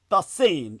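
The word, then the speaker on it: Dasein: Dain, literally their beings, as in being there now.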